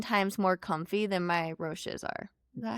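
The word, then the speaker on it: Roshe: FootJoys are 10 times more comfy than my Roches are.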